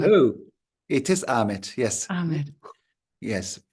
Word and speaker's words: Ahmet: Or is it Ahmed? Hello. It is Ahmet. Yes. Ahmed. Yes. Usually in Turkey, we don't pronounce the H, so it's Ahmet.